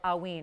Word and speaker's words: hauyne: There are not big hauynes out there.